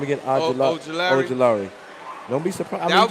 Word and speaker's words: Ojulari: How you pronounce his name again? Ojulari.